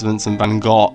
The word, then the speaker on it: Vincent van Gogh: me a joint here obviously his name's pronounced vincent van gaal ah you know if you want to be correct i know the puritans are gonna make sure i say it correctly but we have part